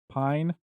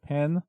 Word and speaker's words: Pijn: Again, it's pronounced Pine, not Pen, like I've been saying it.